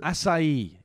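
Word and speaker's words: açaí: Acai. That's it. That's how you pronounce Acai? It. Acai. It sounds a bit like ass I eat.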